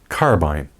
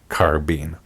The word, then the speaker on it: carbine: way to say it carbine and carbine that's right folks as forgotten weapons pointed it out in a video years back either pronunciation is correct folks across the big